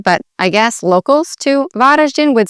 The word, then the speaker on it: Varaždin: And you'd really say this in Croatian, Varaždin. You've got the R, then the Ž, so Varaždin. And as it typically follows, the emphasis would be on the first part of the word, so Varaždin.